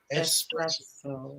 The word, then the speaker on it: espresso: you say espresso ESPN there's no X in espresso espresso yeah we [ __